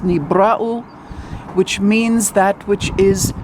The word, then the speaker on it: Nibiru: with maybe rule is actually should be pronounced Nibiru Nibiru is pronounced in modern Hebrew as Neve Rahul but the truth the matter is is that it's knee brow which means that which is created it is